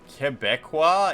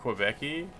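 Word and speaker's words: Québécois: Quebecqua is the pronunciation of Quebeci.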